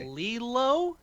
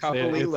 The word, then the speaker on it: Copolillo: Copolillo. Thank you. Copolillo. It's Copolillo. the Italian, not the Spanish. Yeah. Capolillo. Copolillo.